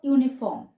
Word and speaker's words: uniform: y double o and a uniform because the u in uniform sounds like y w we also use